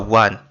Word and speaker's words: one: What you start sounding, or what you start saying, is wa, and wa, like window, is a consonant sound. That's why we say a one, a one off, a one off, a one off, not an one off.